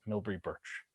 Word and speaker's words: Milbre Burch: So I would like to introduce Milbre Burch, and that is how you say her name.